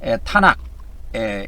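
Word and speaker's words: תנ״ך: 그래서이 유대교인들 유대 교훈은에 구약 성경이라고 안 하고에 타나크라고 니다. 타나에 타나크 그렇게에 이렇게 불러요. 이거를 뭐 이제 좀 멋있게 발음하면에 탄악에 이렇게 발음을 합니다.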